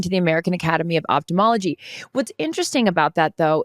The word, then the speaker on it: ophthalmology: Is thumbology? Did I say ophthalmology? No, I didn't. But it's TH, but is it pronounced thumbology? Or I thought it was ophthalmology. It's ophthalmology.